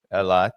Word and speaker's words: Eilat: of Eilat has closed, or Eilut, or however it's pronounced, but Eilat, yes, and it also comes as Yemen has continued its campaign.